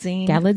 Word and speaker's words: Galitzine: Galitzine. It's like a magazine. That's how Anne Hathaway pronounced. She said, "Oh, you think magazine? It's Galitzine."